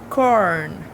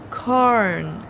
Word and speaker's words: corn: Corn. Corn. Corn. Termina aí no N, quase fechado, tá certo?